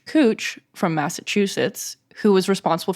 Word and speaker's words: Couch: So there's a street in Northwest Portland spelled Couch Street. And it took me just weeks after moving here to find out it's pronounced Cooch, not couch.